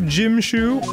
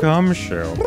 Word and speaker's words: Gumshoe: Shall I show you to the scene of the crime, Detective Jimshoe? My name isn't Jimshoe. Right this way, Detective Fuckstick. Oh, boy. It's actually not pronounced Fuckstick. It's Gumshoe.